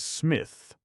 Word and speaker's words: Psmith: The name is Smith. P. Smith. The P is silent.